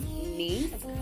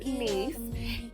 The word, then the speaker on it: Nice: Italian but I enjoyed myself so this is nce France it looks like nice but it's pronounced nce and so in order for us to get